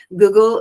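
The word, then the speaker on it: guggul: like Google for instance Google is a um it's spelled gu GG L unlike our Google on the internet and it is an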